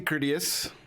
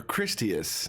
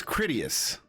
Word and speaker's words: Critius: Or Christius. No, it's Critius. You'll have to correct me whenever I say that wrong. We were hauling acid across country and we stopped. Critius. Okay. I said it right the first time then.